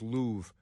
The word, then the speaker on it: Louvre: I like to say Louvre, even though it's Louvre. I know you pronounce it Louvre. The R-E, they're going to be silent like that, but Louvre, why not?